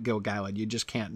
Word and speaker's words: Gil-galad: talking about this poem I say gil-galad because it's very clear from the meter you have to read it gil-galad you just can't not